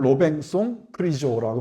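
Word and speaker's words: Robinson Crusoé: 로비스 크로스가 있고 어 프랑스로는 로뱅송 크리조라고 발음합니다만은 르디가 있고 텐이라는 개가 있습니다.이 개가 중요한 역할을 해요.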